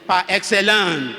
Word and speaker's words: par excellence: Or if I want to say it like it is said, it is par excellence. It's a French word.